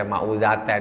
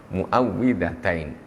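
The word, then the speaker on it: المعوذتين: Tupperware Falak pulang auzubirobinas Nah ini namanya mu'awwidhatayn jangan salah membacanya Jangan dibaca mau zaten mu'awwidzatain jangan salah mu'awwidhatayn Hai itu yang sudah sering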